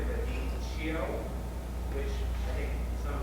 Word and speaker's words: radicchio: Yeah, you don't almost feel the final I because we cut it down, but it's radicchio with one D, just one D.